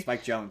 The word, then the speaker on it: Spike Jonze: Apparently, Spike Jonze, Spike Jones. uh, if you say so, That's how it's pronounced.